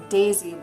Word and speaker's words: DAESI: So it is DAESI, but it's not spelled like Daisy. So it's DAESI.